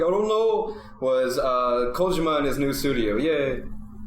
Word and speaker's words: Kojima: nancy kojima he's italian that went down my throat you don't say Kojima he's Manitoba close Kojima call joe mcusic ojima